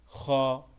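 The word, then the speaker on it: خ: খ, এটা খা হবে না, এটা খ হবে। আমরা অনেকে ভুল পড়ে এটা খা পড়ি, এটা খ।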